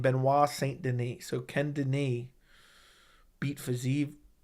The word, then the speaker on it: Benoit Saint Denis: 5-round fight, I'm taking Benoit Saint Denis is how you say it, actually.